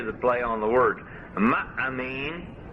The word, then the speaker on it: ma'amin: Ma'amin comes from the root amen. Ma'amin means a believer, but a minim, means a sectarian. How do you spell that word believer? M-A-A-M-I-N, ma'amin.